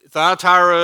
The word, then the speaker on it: Thyatira: about the church in Thyatira. You want to try to say that? Thyatira. Yeah. Thyatira. Yeah. So in Taylor County, it's Thyatira. But in Greek, it's Thyatira. You have to roll the R.